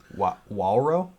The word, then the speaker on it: Wawro: How do you think that says? Wawro? That's Wawro. Wawro.